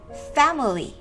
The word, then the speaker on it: family: Để phát âm được từ này thì chúng ta chú ý từ này có 3 âm tiết. Âm tiết đầu tiên là fa, e, fa. Em bẹt đấy các em ạ. Bẹt cái lưỡi của mình xuống. E, e, fa. Âm tiết thứ hai m. Âm tiết thứ ba li.